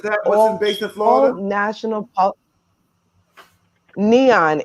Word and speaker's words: NHAEON: national neon. It's um but it's not spelled like neon like you would think, but it's NHAEON.